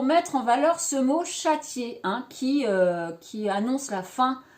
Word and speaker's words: châtier: Hein, il y a 2 voyelles collées qui comptent pour 2 syllabes différentes.